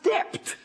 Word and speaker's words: debt: he should say doubt, debt, when he should pronounce dept, D-E-B-T, not D-E-T.